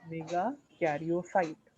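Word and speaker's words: megakaryocyte: मेगा कैरियोसाइट का pronunciation is मेगा कैरियोसाइट, ठीक है।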